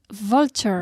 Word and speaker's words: vulture: on the pronunciation here the pronunciation of the V V for vulture victory Vaughn well III